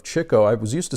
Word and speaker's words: Chico: the front Groucho zeppo Chico as I found out that's the correct pronunciation of Chico I was used to saying Chico but it's really Chico